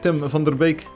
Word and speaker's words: Tim van der Beek: tim van der beek if you pronounce his name and Dutch it's Tim thunder Baek Tim be calm Tim